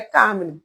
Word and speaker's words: Carmine: Carmine. É Carmine. Acho que todo mundo chama Carmen.